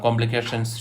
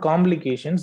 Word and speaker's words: complications: complications to the patients it's not complications but it's complications so the way you have pronounced this phrase was not accurate okay so you should say this one is mispronounced as complications try to you know provide stress on p okay it should be complications okay and you have